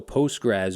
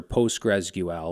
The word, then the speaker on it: PostgreSQL: So Postgres or PostgreSQL or PostgreSQL, however you want to pronounce it, is a relational database that has intuitive functionality and versatile security.